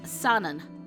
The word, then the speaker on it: Sanan: Now, whatever way you want to think about it, the fact stands this is read as Sanon, not Yamanami. He wrote his name as Sanon. Nagakura wrote it as Sanon.